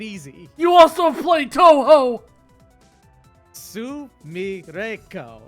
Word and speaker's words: Sumireko: Sumireko. It's just 4 phonetic syllables.